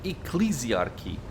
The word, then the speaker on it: Ecclesiarchy: exactly are you interested in hearing about so ecclesiarchy is how you pronounce this okay learn something new um they